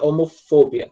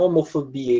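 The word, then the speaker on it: homophobia: A escrita é parecida, mas a sílaba tônica é lá no O, tá? Homofobia, tá? Não homofobia, igual em português.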